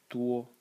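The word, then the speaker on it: 多: And the semantic element is this, which is pronounced duo, and means a lot or many.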